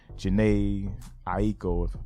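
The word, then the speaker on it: Jhené Aiko: Chris Brown and um Jana Aiko that's how you say her name they eat the boot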